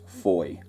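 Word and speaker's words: Fowey: Incidentally, Foy is spelt F-O-W-E-Y, but is pronounced as Foy.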